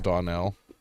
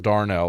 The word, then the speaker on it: Donnell: She's white, even though her name's Donnell. Some say that it's pronounced Darnell, and I was like, There's no R. that's racist. There's no R in that word.